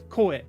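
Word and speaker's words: 声: Like uta goe. Be pronounced koe. Koe by itself, voice.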